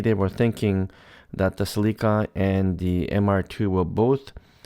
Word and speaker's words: Celica: But let me jump right into the first one, which is about the new Celica. Well, we pronounce it Celica here in Canada. In the US, I think it's Celica.